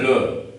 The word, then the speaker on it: le: We may write le, you know, in my previous video I taught you, last E is mute in French. So you'll read it as le.